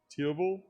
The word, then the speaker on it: Tiervolt: Tiervolt? Tier Volt. Yeah, with the T.